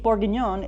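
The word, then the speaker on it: bourguignon: come from right here beef borgon is how you say a burgundy style stew in French this is where Coco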